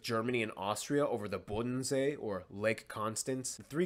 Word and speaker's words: Bodensee: So somewhere in this lake, there's a border between the Bodensee, in German it's pronounced Bodensee, in English Lake Constance, okay?